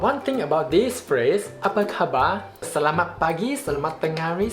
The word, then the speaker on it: apa khabar: Apa khabar?